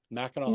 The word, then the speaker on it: Mackinac: Mackinac Island Nation, and it's spelled with a C, but it's pronounced with a W because it's French. Mackinac Island Nation, and this